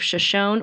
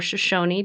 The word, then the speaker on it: Shoshone: Kellogg is a city in the Silver Valley of Shoshone or Shoshone, depending on how you pronounce it, County, Idaho, in the Idaho Panhandle region of the United States.